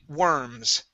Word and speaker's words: worms: When it's an O-R, we actually pronounce that were, okay? So this word is actually worms.